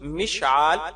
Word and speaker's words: مشعال: جواب، مشال کا درست تلفظ مشعال یعنی عین کے ساتھ اور میم کے زیر کے ساتھ ہے، اور مشعل اور مشعال